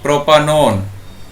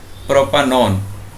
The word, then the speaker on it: propanone: Now the pronunciation is propanone. The pronunciation is propanone, like this.